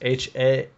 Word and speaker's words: Haaretz: Yeah, like even what the magazine or the newspaper Haaretz, is that how it's pronounced? Haaretz.